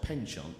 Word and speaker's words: penchant: So is it penchant or is it penchant? I don't know. So it's spelled penchant, P-E-N-C-H-A-N-T. But it's, French pronunciation is penchant.